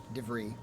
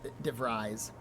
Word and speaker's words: DeVries: So, we're the only ones who can stop DeVries By the way, I should just pronounce the name correctly. DeVries, instead of DeVries.